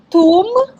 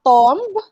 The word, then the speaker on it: tomb: let me read it it's tomb not tomb okay it's tomb you would notice it's m and b so silent me taiyo but you um you long how do you say this you extend the the sound of letter o okay so tomb wednesday